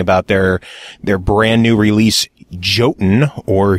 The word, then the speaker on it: Jotun: Lotus Games, talking about their brand new release, Jotun, or Jotun as it's properly pronounced, but they prefer to say Jotun because if you said Jotun, no one would